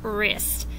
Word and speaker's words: wrist: You don't hear the W. You hear the R sound, right, wreck, wrist.